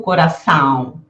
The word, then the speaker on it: coração: Eu não digo coração, eu digo coração e ruim, né?